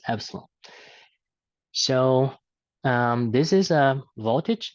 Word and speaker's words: epsilon: electrometric force or Epsilon which looks like e but it's pronounced as Epsilon so this is a